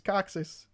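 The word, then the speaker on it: coccyx: taxis taxis like no buddy nope it's it's coxis it's well all right I didn't insist on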